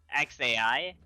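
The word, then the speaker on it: X Æ: pronounce the baby's name it just acts like the letter X and then a I like you just said the letter AI so it's like xai excited do not click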